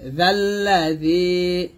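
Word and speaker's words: الَّذِي: এই জালকে লামকে ধরবে, জাল্লাযী, জালটা পাতলা হবে অবশ্যই, জাল্লাযী, মাং জাল্লাযী। ইয়াশিন জবর ইয়াশ, ইয়াশ বাতাস,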